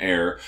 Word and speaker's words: AIIR: want to pronounce that it's like air but with two eyes in the middle and the way that it's written of course last year salt confounded Everybody by releasing the Alum air which uh in in